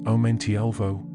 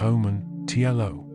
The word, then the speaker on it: Omentielvo: It's Elensila Lumen Omentielvo, not Omen, Tielo.